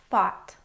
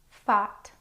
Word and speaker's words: fought: There are some words that rhyme with bought and also have the same spelling, so I've grouped these words with bought.